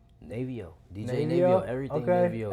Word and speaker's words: Navo: Navio, DJ Navio? Navio, everything Okay, Navio, everything artist Navio. name Navio, producer name Navio, But it's spelled Navo. NA.V.O.